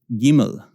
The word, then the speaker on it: gimel: to Hebrew all offense gimel gimel gimel is how we say it sometimes what gimel is probably the more proper way cuz eyes makes sounds in Hebrew this makes a gun sound gah gah gimel dalet